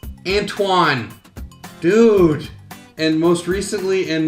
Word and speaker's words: Antoine: I also have a hard time pronouncing names, especially if they're anything French. Ah, stupid French! Louisa? It's Louise, dummy. Antonio? No, that can't be it. It's Antoine.